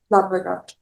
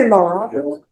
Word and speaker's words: Larraga: It's like you roll the R the R.